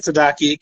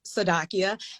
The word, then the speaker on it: Tsadakeeyah: When you look at Tsadakeeyah, it can be intimidating to say, but the T is silent. So once you realize the T is silent, then it's just phonetics. Okay, now you know, Chef Tsadakeeyah, that I am a